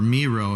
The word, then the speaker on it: Miro: Or it has iTunes and also Miro, or Miro if you pronounce it that way, M-I-R-O.